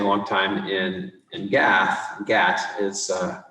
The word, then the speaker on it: Gath: last year they've actually found a iron age gate that david probably would that's kind of interesting is they've been excavating a long time in in gath gat is uh how you pronounce that uh